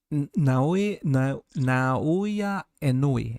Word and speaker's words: Naoya Inoue: Is that pronounced Naya? Naoya Inoue. Yes.